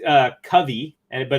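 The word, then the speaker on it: Kavi: long 40 love out nice to meet you Kobe he says it's pronounced uh Covey and but it's spelled k-a-v-i but nice to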